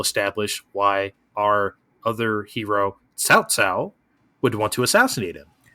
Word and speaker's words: Cao Cao: I was hoping they didn't like really go the Cow Cow route, and they didn't. But yeah, Cao Cao.